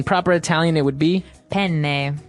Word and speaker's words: penne: italian it would be penne penne so you you double pronounce the consonant what about fettuccine um